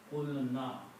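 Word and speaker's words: قلنا: So qaf becomes with the sound of this, waw goes away, and the word becomes qulna.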